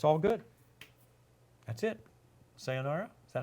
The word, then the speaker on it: sayonara: Sayonara? Is that how you say it? Sayonara.